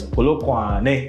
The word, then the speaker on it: Polokwane: Johannesburg in the city, if you're in Polokwane where I was, Polokwane, that's how you pronounce it.